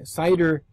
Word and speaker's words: CIDR: to discuss something called CIDR notation n ot a tion next yeah cider notation is the way we pronounce that and we'll talk about